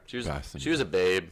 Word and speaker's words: Basinger: Kim Bassinger. Basinger. How do you say it? Bassinger.